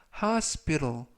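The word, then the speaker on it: hospital: 이라고 발음 하시면 되겠구요 이때 발음에 유의 하시고요 코스피 탈이 아니라 하하 스페로 이때 끝부분에 있는 t 발음도 부드럽게 태가 아니라 허 르르 그래서 하우스 폐로 이라고 발음 하시면 좋겠습니다 품사는 명사 뜻은 병원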